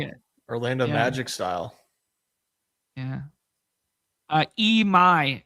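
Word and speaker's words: Imai: Emai is how it's pronounced.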